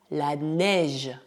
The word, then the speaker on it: neige: Por exemplo, quando combinadas, as letras E mais I não são pronunciadas EI. Elas formam novo som, o som E, que é pronunciado como o E do português. Assim, não dizemos la neige, mas la neige, la neige.